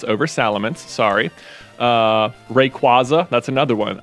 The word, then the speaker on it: Salamence: Like, Salamence is just obviously the way you should say it, because it's cooler and better.